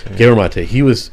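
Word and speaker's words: Gabor Maté: And Gabor Mate, that's how you pronounce his name, right? The psychologist. Gabor Mate.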